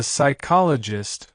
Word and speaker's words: psychologist: KN example two the psychologist who makes no sense now let's talk about the word psychologist this one is tricky because it starts with PS which makes no sound at all imagine someone trying to